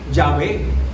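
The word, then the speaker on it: Yahvé: Jehová. Yahé. Se puede pronunciar también en esa forma.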